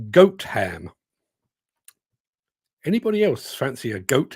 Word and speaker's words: Gotham: the one near Nottingham it's not pronounced Gotham it's pronounced goat ham anybody else fancy a